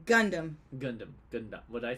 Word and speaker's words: Gundam: You say Gundam like a Japanese person. Gundam. But Americans say Gundam.